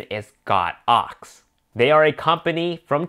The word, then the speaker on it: Godox: the correct pronunciation is got ox they are a company from China and in Chinese that use the characters God and ox so technically is pronounced God ox and not godox so